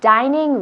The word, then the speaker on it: dining: Dining no. Dining. Es una I fuerte. Dining room.